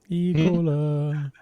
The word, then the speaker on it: Ecola: Careful how you pronounce that. Ecola.